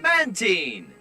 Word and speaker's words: Mantine: Part of its name comes from marine, which is where the pronunciation is supposed to come from, but honestly, you lose